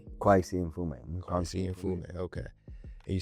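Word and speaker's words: Kweisi Mfume: Kwesi Mfume.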